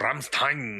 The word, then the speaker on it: Rammstein: ¿Rammstein o Rammstein? Nosotros por los cuates Rammstein. Y ellos lo pronuncian. Rammstein, algo así.